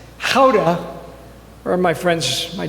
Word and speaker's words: Gouda: And then I learned that it's pronounced how.